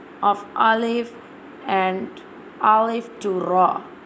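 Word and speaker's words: ألف: Today I'm telling the pronunciation of alif and alif to ra. How we'll pronounce the alif. Now I'm telling you how we'll pronounce the alif. Alif pronounced from the empty space of the mouth, and ba pronounced from the wet part of both lips.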